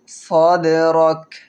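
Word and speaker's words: صدرك: ডাল কলকলার হরফ, ডালের উপরে সাকিন হয়েছে, কলকলা করব। সাদরাক। আলাম নাশরাহ লাকা সাদরাক। কাপের উচ্চারণ কিভাবে করি খেয়াল করবেন। সাদরাক।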